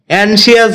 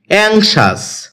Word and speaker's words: anxious: এটাকে আমরা অ্যানশিয়াস বলে থাকি, যার সঠিক উচ্চারণ হচ্ছে অ্যাংশাস। এটি বাক্যে অ্যাডজেক্টিভ হিসেবে ব্যবহৃত